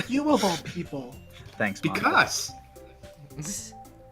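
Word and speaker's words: Monika: That's not how you say my name at all. It's not Monica, it's Monica.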